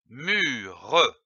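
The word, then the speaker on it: mûre: syllabes mu r donne mure comme une mû attention ici l'accent circonflexe sur le U il faut allonger le U une mur je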